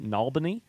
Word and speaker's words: New Albany: Also, there is a place very near Louisville, Kentucky, called New Albany, which is pronounced Nalbany, which I'd say is just accent.